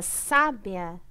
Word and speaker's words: sábia: pessoa é sábia né na palavra sábia a sílaba tônica é os ar então ela é uma proparoxítona lembra que a gente